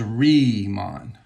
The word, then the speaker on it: Riemann: So when you have this German phoneme, I-E, you pronounce it, or E-I, you pronounce it with the long vowel of the second vowel. So this is Riemann. I don't know how to pronounce Bernhard. I guess it's Bernhard. But this is Riemann. Now, if you turn it around and you have E-I, then that would be a long I sound.